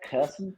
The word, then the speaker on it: Kherson: And as you're going to be in charge of pronunciation of all the cities and whatnot. But they retook. How did you say it? Kherson. Kherson.